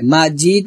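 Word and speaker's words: مجيد: আবার ওয়া আলা আলি ইব্রাহিম, তারপর ইন্নাকা হামিদুম মাজিদ, এখানে কি হবে মাজিদ, কলকলা হবে, হক ফদলে কলকলা হবে, মাজিদ আমরা তিন আলিফ টান দিয়ে দালকে ধরবো এবং কলকলা করব, ইন্নাকা হামিদুম মাজিদ।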